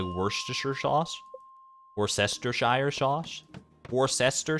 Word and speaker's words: Worcestershire: pronounced and why what Worcestershire it's just pronounced that way it's like you gotta separate it like uh like w-o-r-c-e worse um s-t-e-r stir and then s-h-i-r-e sure or Shire I guess but in that case